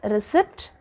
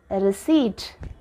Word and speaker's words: receipt: The right way to pronounce this word, this is not receipt, this is receipt.